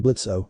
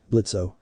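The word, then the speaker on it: Blitzø: to do that here blitzo the O is silent the Imp in charge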